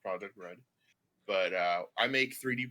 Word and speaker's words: Project R3D: yes um so i run project r3d uh pronounced project red but uh i make 3d printers and that's